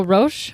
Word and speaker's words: Roch: okay it's really hard because his name is pronounced Ro but it is spelled r c h so